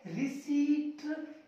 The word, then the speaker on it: receipt: अगला रसीद, जब भी हम लेते हैं भाई मेरी रिसीप्ट दे, रिसीप्ट, रिसीप्ट नहीं होता, रिसीप्ट नहीं होता, ये शुद्ध होता है रिसीट, इसमें पी हो जाता है साइलेंट, इसको पढ़ेंगे रिसीट, पी को नहीं पढ़ेंगे, रिसीट माने रसीद हो